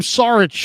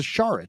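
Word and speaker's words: Šarić: still on the roster I was calling him sarich for a long time only to figure out that he was a not a sarich he was a shich shich yeah sh as the pronunciation and no he's he's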